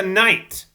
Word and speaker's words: knight: at him he's a knight oh wait right yet right yeah I keep forgetting in night the K is silent I keep forgetting that